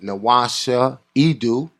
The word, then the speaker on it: NWasha Edu: This is your host, Rahiem Shabazz, and we are back with NWasha Edu. Did I pronounce it right?